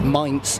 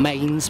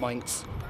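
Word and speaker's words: Mainz: fine spots where it came from which is Ms in Germany that's m a i n z not Mains but pronounced Ms it's a wooden based Scabbard with a frame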